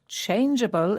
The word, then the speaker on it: changeable: Changeable is spelt Changeable. Yes, there are quite a lot of words with the letters G-E in them, and the E shows that the G is pronounced softly as J, changeable.